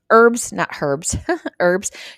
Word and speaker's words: herbs: The Simple Truth organic packaged herbs, $2.49. I do know how to read, guys. I do know that word, the H is silent.